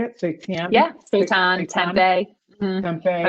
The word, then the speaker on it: seitan: seitan, is that how you say it? Seitan?